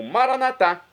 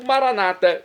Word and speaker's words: maranata: vida bem e agora eu clamo maranat como dizemos nós católicos ou Maranata como dizem nossos irmãos separados os evangélicos ou protestantes não importa pronúncia o significado é o